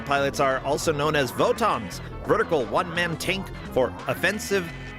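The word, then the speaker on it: Votoms: The lowest of the low vot and botm are pronounced the same in Japanese.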